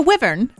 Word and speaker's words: wyvern: do you say that W wyvern it's a wyvern is that what it is yes Brian over